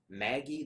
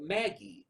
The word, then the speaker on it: Magi: I'm pronouncing that right I believe it's pronounced Maggie I've heard other people